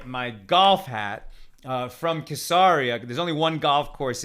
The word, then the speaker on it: Caesarea: and it's in hebrew it's spelled quesari right so we print out we call it kasaria some people look at that and they say well it's spelled like like caesar with an ea at the end and so some people say caesarea or cesaria uh but i think it's better to say kissaria and that's what they